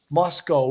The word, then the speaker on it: Moscow: line that he said Moscow rhymes with Costco or I don't know